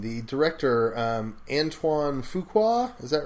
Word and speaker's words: Antoine Fuqua: One of them was about, and I feel bad, I don't know how to pronounce this guy's name, the director, Antoine Fuqua, is that right?